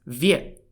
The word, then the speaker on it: 越: word year was actually pronounced Viet as in Viet in Vietnam to the north of